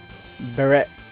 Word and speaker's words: Barret: I never really knew how to pronounce his name Barret Barret its Barrett I know but back